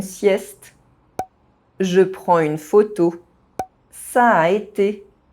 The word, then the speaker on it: ça a été: In this sentence, there are two identical vowel sounds next to each other. You don't pronounce one of them differently to distinguish them. You simply say a longer sound.